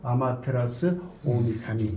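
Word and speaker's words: 天照大御神: 그래서 이거 그냥 흔히 아마테라스라고 하지만 전체적으로 읽으면 아마테라스 오미카미 이렇게 얘기를 하죠.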